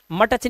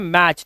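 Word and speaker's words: match: मैच के अंदर देखिए टी साइलेंट है। बोला था ना टी सी एच के अंदर टी साइलेंट होगा। तो इसमें कभी भी मटच नहीं पढ़ते इसको। मटच इसे बोलते हैं मैच।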